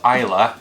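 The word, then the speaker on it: Islay: a really awkward name where is lay is pronounced Iowa the Iowa here is pronounced ela and the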